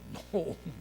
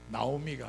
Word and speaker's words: 나오미: 번역이 나오미라 돼 있습니다 그런데 원래 원래 원어의 발음은 노이에 노미 나오미가 아니고 노미인 이제는 뭐 전 세계 사람들이 다